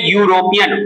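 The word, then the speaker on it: European: टू वल्स ई यू लेकिन इसका जो साउंड है जिसका प्रोनंसिएशन है वो है यूरोपियन वाई वाई क्या है इट्स अ कंसोनेंट यूरोपियन पढ़ते हैं तो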